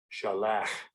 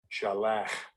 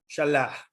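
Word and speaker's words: שלח: This is the Hebrew letter sheen, which gives the SH sound. This is the lamed, which is our equivalent letter L. And this is the het.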